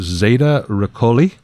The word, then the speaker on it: Zeta Reticuli: the hypnosis, that they had actually traveled to Zeta Reticuli, I believe is the correct pronunciation.